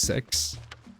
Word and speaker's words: CEX: Oh, yeah, there's CEX and it's like actually pronounced sex.